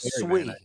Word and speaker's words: Sui: Pronounced Sui.